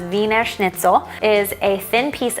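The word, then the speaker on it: Wiener Schnitzel: It's spelled Wiener, but it's pronounced Weiner Schnitzel.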